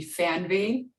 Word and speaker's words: Fernweh: Well, in the German version of saying it would be Fernweh, and it's kind of like a longing for distant places and an urge to explore.